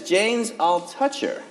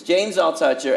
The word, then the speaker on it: James Altucher: go I guess is Jane's I'll touch her correct yes / no I think I've been saying your name wrong for 10 years that I've known you it's James I'll touch your everybody welcome to the